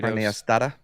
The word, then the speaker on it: carne asada: Carne asada? good too. Now you're just mispronouncing words on purpose. No, carne asada. That's exactly how you pronounce it.